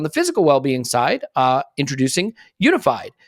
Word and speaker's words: UNIFYD: So on the physical well-being side, introducing Unified. It's spelled, by the way, UNIFYD. UNIFYD, Unified Healing.